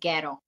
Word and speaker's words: Jero: So tell us about Jero. Am I pronouncing his name right? I always wondered that. In Czech, it's actually Gero.